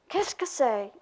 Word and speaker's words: qu'est-ce que c'est: Qu'est-ce que c'est? That's three syllables, right?